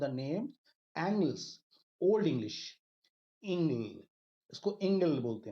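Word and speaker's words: Engle: This word was derived from the name एंग्लिश, ओल्ड इंग्लिश, इंग्ल, इसको इंग्ल बोलते हैं हम लोग, है ना, जो उस समय प्रोनाउंस होता था।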